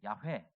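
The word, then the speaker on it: 야훼: 뜻을 가지고 있는 것이죠 학자들은 이 여호와 란 이름이 정확한 발음이 아니라서 야외 야외 라고 불러야 된다고 하는데 성경에서 여호와 로 적혀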